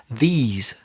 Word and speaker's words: these: So THIS is the short sound, singular, this. And THESE is the long sound, these conversations.